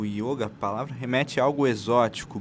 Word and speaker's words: yoga: é gênero masculino então ocorre o equívoco é mais que natural de das pessoas falarem yoga o yoga mas a pronúncia mais correta da palavra a gente utilizar com o fechado o yoga e o significado dela